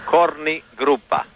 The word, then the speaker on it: Korni Grupa: were also called the Korni Grupa. Did I say it right? Yes, you did. Okay. Actually, Korni Grupa.